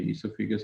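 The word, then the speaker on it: oesophagus: तलफ़्फ़ुज़ दोनों का ईसोफिगस ही है, स्पेलिंग में डिफरेंस मौजूद है।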